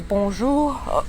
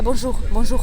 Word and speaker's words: bonjour: это неправильно, да, надо говорить бонжур, и вот этот р, он как бы там у тебя застревает, да? Больше как х, да, бонжур.